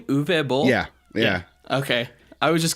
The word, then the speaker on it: Uwe Boll: And is that how you pronounce his name? Uwe Boll?